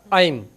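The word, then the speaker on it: ऐं: तो ओम नहीं बोलना इसमें, आइम हरीम दिव्य नमः, ये इनका बीज मंत्र है।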